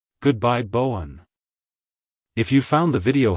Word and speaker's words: Bowen: on the one at the end like hello Bowen goodbye Bowen if you found the video helpful hit the